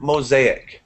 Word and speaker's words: mosaic: Natalia asks, can you pronounce the word mosaic? Mosaic. Okay, it almost sounds like a Z sound, like that.